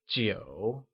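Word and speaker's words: 九: 9 translates to jiu and is pronounced with a falling, rising tone.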